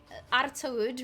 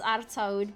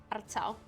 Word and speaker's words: Artaud: Worst case scenario, he has Artaud, which we've been talking about all stream, which isn't pronounced Artaud, but Artau or something.